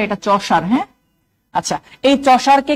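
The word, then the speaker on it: Chaucer: আচ্ছা, এই ব্যক্তির এই চসারটাকে এভাবে লিখেন, অনেকে উচ্চারণ উল্টাপাল্টা করে, এটা চসার।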